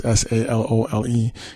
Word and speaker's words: Salole: I might be saying his name wrong. It's Salole.